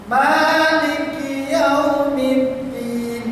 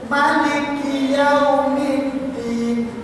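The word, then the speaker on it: مالك يوم الدين: Kecuali di Malik Yaumiddin, bacaan yang didengar oleh para sahabat mimnya ada yang panjang. Nabi Muhammad pernah membacanya pendek. bacaan yang masyhur. Bagaimana Ustaz? Contohnya Maliki Yaumiddin boleh dipanjangkan. Boleh juga di bacaan qiraat yang lain mimnya pendek. Maliki Yaumiddin.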